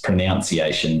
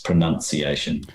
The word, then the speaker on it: pronunciation: The verb pronounce has two O's, but the noun pronunciation also only has two O's, whereas I thought it would have had three O's. I thought that it was pronunciation, but it's not. It's pronunciation. That is the noun.